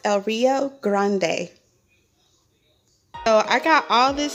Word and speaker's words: El Rio Grande: um it's called el rio grande gran it's pronounced el rio grande so i got all this stuff plus this